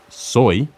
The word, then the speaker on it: soy: am in Spanish there's soy which comes from the verb s soy it's pronounced and spelled just like soy from soybeans the second way we